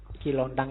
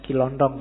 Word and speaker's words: Kilontang: Kilontang ini waktu diinterogasi antara lain yang diucapkan itu, bukan Kilondong ya.